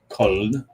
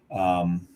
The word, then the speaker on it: Köln: And as much great German beer as you have there, and Cologne's known for the Kolsch, because in German it's Köln. Köln.